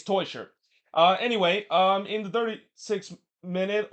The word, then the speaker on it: Teuscher: By the way, this is the second week in a row that the broadcaster has mispronounced Teuscher's name. For the love of God, it's not Toiker. It's Cedric Teuscher.